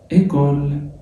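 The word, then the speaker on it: école: الأو على شرطة يمين بتتنطق تمام. بعد كده إيكول، وحرف الأو الأخير خد بالك مش هيتنطق.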